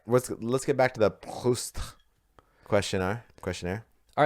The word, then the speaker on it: Proust: All right, there's no RE at the end of Proust, is there? So you don't have to do that. No, dude. Everybody who I listened to a bunch of French speakers say his name, and it was very pronounced.